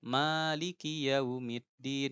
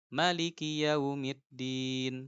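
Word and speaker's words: مالك يوم الدين: baca qiraahnya Imam asim Imam asim begitulah cara bacanya kayak yang kita baca ya e maiki yaumiddin ya Maliki yaumiddin gitu Tapi kalau imam yang lain Nanti kayak Nafi ya Maliki yaumiddin pendek Maliki yaumid loh Itu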